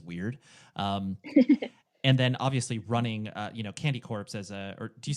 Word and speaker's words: Candy Corpse: Yeah, I well, want to hear the other pronunciation. Candy Core, Oh, okay. right? Yeah, No, yeah. it's Candy Corpse.